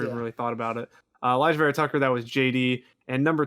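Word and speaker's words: Alijah Vera-Tucker: Yeah, Elijah Vera Tucker. Yeah, I always just call him Vera Tucker, so I never even really thought about it. Elijah Vera Tucker, that was JD.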